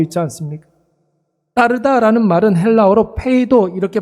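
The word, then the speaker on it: πείθω: 번 반복해서 나오고 있지 않습니까 빠르다라는 말은 헬라어로 페이도 이렇게 발음을 하는데 여러분이 페도라는 말은 두 가지 의미가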